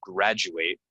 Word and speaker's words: graduate: things not stressed stressed this one's going to sound like J J educate yourself and make sure you graduate graduate from from school this one